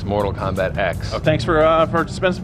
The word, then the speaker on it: Mortal Kombat X: How do you pronounce the name of the new game? The official title is X, Mortal Kombat X.